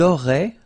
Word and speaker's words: auraient: auriez, and then ils auraient, little link, but then look, A-I-E-N-T like that, and you only pronounce E, like we had here. It will be exactly the same pronunciation here.